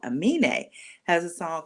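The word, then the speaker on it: Aminé: Amine has a song called Mrs.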